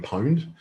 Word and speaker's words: pwned: i been owned but they replace the o with a p so it's pronounced have i been pwned um it's a very